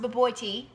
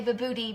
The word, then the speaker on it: Bobotie: It's pronounced Bobotie, but we like to say Bobotie because it sounds funny.